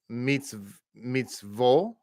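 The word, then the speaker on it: מצוות: So therefore, we look at line 1, and we have mitzvot. Mitzvot is equal to mitzvot. Line 2, mitzvot is equal to mitzvot. The same pronunciation.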